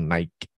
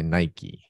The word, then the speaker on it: Nike: E a outra coisa, pronúncia Nike. Não é como os brasileiros falam Nike, mas é Nike.